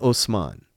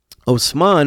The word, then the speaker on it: Osman: there's a guy named Osman Osman is just the Turkish pronunciation ofman so it's just